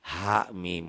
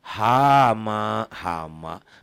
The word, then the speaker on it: Ha Mim: Tiba-tiba dia bacanya hama, bukan hama tapi ha mim. Kayak kaf ha ya ain sad dibaca kah ya as, nah itu jangan digabungin. Bacanya diejah ya, bacanya diejah.